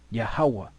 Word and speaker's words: yahawah: V in the Hebrew it would be yahwah yahawah that's the most High's name and here it means